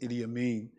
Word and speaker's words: Idi Amin: I don't speak Congolese, but the leader's name was Idi Amin. That's how you pronounce it, Idi Amin.